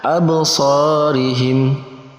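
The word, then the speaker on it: أَبْصَارِهِمْ: Jadi ketika ada 5 huruf qalqalah tadi dan kemudian berharokat sukun, maka wajib dibacanya memantul ataupun qalqalah. Absarihim.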